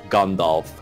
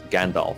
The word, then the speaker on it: Gandalf: pronunciation is there and that it's gone Dolph and not gandalf things all right I